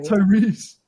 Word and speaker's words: Tyrese: Tyrese.